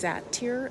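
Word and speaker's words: satyr: Here we have a male um a statue of what's called a sat I think it's pronounced satir s a t s a t y r um holding grapes and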